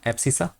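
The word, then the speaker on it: abscissa: एप्सिसा। क्या बोलते हैं? एप्सिसा। देख लेना। ऐसे ही होता है स्पेलिंग।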